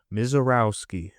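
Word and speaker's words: Misiorowski: Misarowski. There you go.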